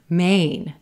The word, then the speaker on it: Maine: Maine, Maine. Here, we just have a one-syllable state name, right?